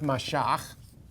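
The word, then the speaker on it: מָשַׁח: It's the Hebrew verb mashach. Mashach, to anoint with oil. Or, as we pronounce it in English, that is what the word Messiah means, the anointed.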